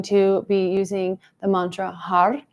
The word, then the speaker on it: Har: It's spelled H-A-R, but when you say it, it might sound like HUD because you're going to be flicking the top of your mouth with the tip of your tongue.